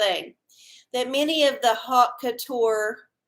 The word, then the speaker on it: haute: that many of the haute couture, and that's, it's not spelled like hot, H-O-T, it's like some French way of spelling it.